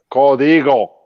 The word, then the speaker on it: Código: Código.